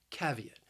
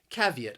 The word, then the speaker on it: caveat: first syllable caveat caveat I think this word is a bit challenging because when you just look at the spelling you might not think that it has three syllables but it does that second syllable has a long e sound e caveat caveat so you